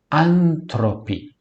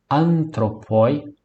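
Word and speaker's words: ἄνθρωποι: Antropi, antropoi, antropi. Antropi, homens. Antropi, homens. Lá no grego bíblico para todos, vocês percebem que o ditongo oi eu pronuncio i, eu faço uso da pronúncia bizantina, não é?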